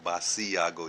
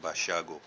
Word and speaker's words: Basiago: Andrew بشیاگو، جس کا نام میں نے پہلے لیا ہے، اس کا نام اینڈرو باشیاگو، BASIAGO، باسیاگو جیسے دکھتا، لیکن اس کا تلفظ ہے باشیاگو.